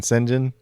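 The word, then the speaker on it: Şengün: And then I'm not even sure how to pronounce this guy's name, but I believe most people have been saying Sengun, so we're going to go with Sengun.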